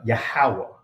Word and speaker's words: Yahawah: uh some would refer to Yahweh or use the Tetramaton or whatever the case may be, but the ancient pronunciation of his name is uh Yahawah.